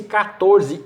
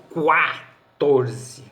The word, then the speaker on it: catorze: pronunciado mas para complicar catorze é grafado com que o mesmo diante de ar pronuncia-se 14 e não quartorze sua melhor forma gráfica